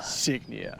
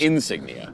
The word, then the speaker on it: Signia: the new Crown signia signia signia not Insignia not Insignia it's like a badge just signia signia maybe it's a silent g likea s it means sign in Latin oh okay basically we